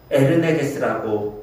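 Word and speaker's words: ἐνεργής: 활력이란 헬라어를요, 에르네게스라고 읽습니다.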